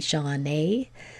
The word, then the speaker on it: Shawna: So in my name ends at a, so it should be Shawna, but we say Shawna.